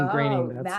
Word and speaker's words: Groening: It's pronounced graining. Oh, That's Matt how you, Groening. graining rhymes with raining.